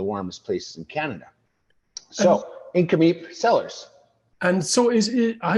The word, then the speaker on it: Nk'Mip: other than Justin Drake Hall wine maker at incom Sellers DC how are you today sir awesome you even pronounced the name right which I'm very very